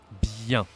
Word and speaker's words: bien: We have yin because there is another vowel here. We have the un, the e, sorry. So yin, bien. This is not that easy to pronounce.